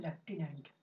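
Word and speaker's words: lieutenant: जो है ये है लेफ्टिनेंट। कितनी अजीब बात है दोस्तों, लेफ्टिनेंट में हम लोग एफ लगाते हैं बोलते समय, लेकिन स्पेलिंग में एफ कहीं नहीं होता।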